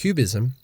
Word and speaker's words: QBism: A different relational theory, QBism (pronounced Cube-ism), takes a somewhat similar